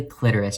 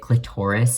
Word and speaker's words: clitoris: alright enlargement of the clitoris Jack and I had this conversation the other day about like how some people will pronounce it click Taurus and it makes him really uncomfortable and I've never